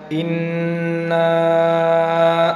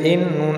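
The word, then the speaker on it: إِنَّا: ইন্না নার উচ্চারণকে আমরা তিন আলিফ পরিমাণ টানছি, এর কারণ হচ্ছে মদের হরফের উপরে চিকুন চিহ্ন থাকলে তিন আলি পরিমাণ টেনে পড়তে হয়।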